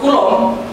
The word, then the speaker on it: coulomb: Bacanya coulomb ini ya.